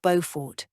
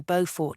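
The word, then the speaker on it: Beaufort: a bow tie like bow for North Carolina our South Carolina bow for is like the bow in beautiful the bow part rhyming with you I laughed at his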